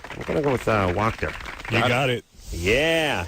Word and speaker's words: Wachter: I'm going to go with Wachter. You got it. Yeah. Rhymes with doctor.